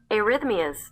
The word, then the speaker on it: arrhythmias: Arrhythmias. There you go. Arihythmias.